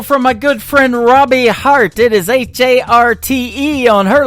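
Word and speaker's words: Harte: That is the latest single from my good friend Robbie Hart.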